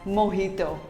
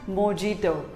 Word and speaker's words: mojito: it is pronounced as mohito not mojito simply say mohito the j is pronounced as h to what do you